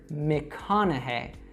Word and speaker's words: McConaughey: And then in that syllable na, the GH is actually silent. So this is kind of like in the word thought. We just say na. And then finally, hey. So all together, McConaughey, McConaughey.